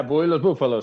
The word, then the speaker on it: Bull y los Bufalos: So anyways, Bull Diego, Bully Los Bufalos. Did I say it right? Yeah, Bully Los Bufalos.